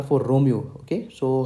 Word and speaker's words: Romeo: the letter R pronounced in phonetics it is pronounced as Romeo Romeo Romeo okay so that's how the letter R